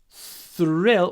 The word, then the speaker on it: thrill: thrill seeker because thrill thrill when you pronounce the th remember to try to bite the outside the the sides of your tongue th th thrill he's a thrill seeker